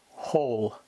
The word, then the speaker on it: whole: such as the words whole and who in this Digraph we reverse the sound and here the W is silent and the H is the single sound the second type of